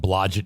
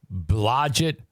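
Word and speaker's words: Blodgett: the hospital is called blodget he goes it's on those blodget f rhymes with baggett blodget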